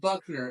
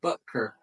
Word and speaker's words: Butker: It's not Buckner, it's Butker. Butker. Just like it's spelled, I Butker. thought it was B-U-K-N-E-R.